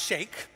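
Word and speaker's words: Cheick: He said, just call me Sheikh, even though it's spelled C-H-E-I-C-K, it's pronounced Sheikh, right?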